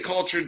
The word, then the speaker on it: kultHERed: You say kultHERed just like kultHERed. kultHERed.